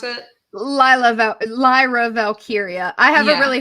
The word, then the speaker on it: Valkyria: Um, Valkyrie. Is that how you pronounce it? Lyra Valkyria. I have a Yeah. really hard time with it too. Because I just want to say Valkyrie, like.